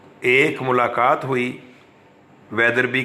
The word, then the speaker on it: Wetherby: Spelling देखिए, WETHERBY, वेदर बाई नहीं पढ़ना, वेदरबी है।